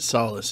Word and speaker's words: Solace: Well, in that one hymn, if you don't pronounce it solace, it doesn't rhyme.